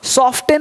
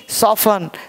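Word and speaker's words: soften: बोलते लिशन, ध्यान सुनना, सॉफ्टन नहीं सॉफन है ना, कोमल होना सॉफन है, बिल्कुल सॉफ्ट है ना,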